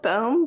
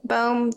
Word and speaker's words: Bombe: Because it's like bomb with an E on the end. I call it Bombe, but I don't know if that's just a little bit too pretentious.